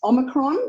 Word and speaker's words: omicron: well done um yes it's omicron or o micron depending on how you uh work your way through the pronunciation so i would love